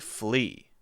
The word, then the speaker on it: flee: Now the difference here is when I make the R sound, I curl my tongue up and back. It's kind of straight up toward the roof of my mouth. And when I say the L sound, fl, I'm actually touching my tongue behind my teeth.